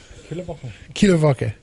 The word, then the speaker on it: Kieler Woche: And we played Kieler Woche. Is that how you say it? Close. Kieler Woche. It was like in Kiel, Germany.